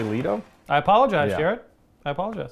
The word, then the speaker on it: Leto: leto jared leto so i guess it's officially lito i apologize jared i